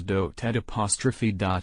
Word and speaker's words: dotard: In particular, his use of the insult dotard. The emphasis is on the first syllable, so should be pronounced correctly as dotard'.